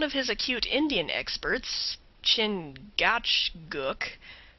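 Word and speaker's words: Chingachgook: his acute Indian experts chin gatg pronounced Chicago I think has lost the trail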